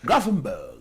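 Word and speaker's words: Gravenberch: This is Grafenberg. Grafenberg. That's the pronunciation of the name.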